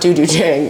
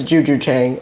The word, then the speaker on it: Juju Chang: just want to say her name is not Dudu Chang it's Juju Chang and he should annunciate that better I thought he said